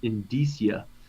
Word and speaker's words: indicia: Indicia.